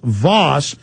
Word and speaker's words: Vaus: Anyway, I was Let me tell you how you spell it, folks. It's V-A-U-S. Steve, V-A-U-S, Voss.